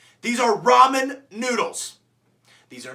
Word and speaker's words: ramen: is really good so if you call it Raymond noodles you can walk into the ocean I don't care like call it ramen noodles next thing that people